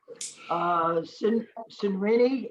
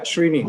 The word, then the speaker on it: Srini: Sinrini, is that how you pronounce it? Yeah, Srini, that's right.